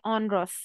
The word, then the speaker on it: onerous: ये जो वर्ड है इसको हम प्रोनाउंस करेंगे ऑनरस।